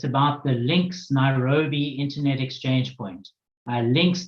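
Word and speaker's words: LINX: is a recorded video it it's about the links Nairobi internet exchange Point links that's spelled l i NX started as the London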